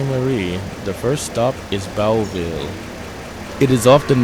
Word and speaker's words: Boughville: Marie, the first stop is Boughville. It is often mispronounced as Boughville, but it's actually Boughville.